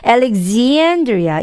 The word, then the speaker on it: Alexandria: example 이 발음처럼 Alexandria 이 발음이에요.